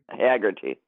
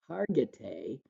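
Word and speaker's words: Hargitay: the actress Marishka uh Hagerty. Hagerty is what I always said, but then in the documentary I realized I've been mispronouncing her name, Hargatee.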